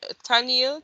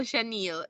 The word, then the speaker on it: Shanielle: So it's spelled Taniel, Taniel. No, Shaniel. Oh, SHA. Shaniel. Yeah. SHANIELLE.